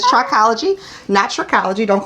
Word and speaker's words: trichology: great first of all thank you for pronouncing it correctly it is trichology natural ecology don't call